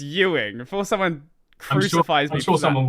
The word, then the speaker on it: Ewing: so tux was by Larry awing Ewing one of the two I eing probably Ying yes it's e wi i n it's Ying before someone crucifies sure